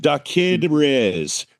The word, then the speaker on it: DaKidRiz: And And it's I I don't know how to pronounce it right. Did Riz.